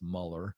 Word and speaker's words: Mueller: His name's George Mueller. It's technically pronounced Muller.